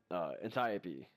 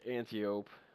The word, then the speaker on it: Antiope: it cousin to the Antiope, which everyone called it either the antelope or the antiope, which is not the correct pronunciation. It's the Antiope.